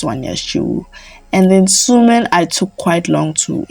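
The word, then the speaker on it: 수민: So I think it's Sumin because like Soyeon is not pronounced as Suyeon, and Sujin pronounced like with a double O.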